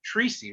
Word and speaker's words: Troisi: All right, welcome everybody to a Free Thinkers Corner, Books and More live event, virtual book launch with Gina Troisi, right? Is that how it's pronounced?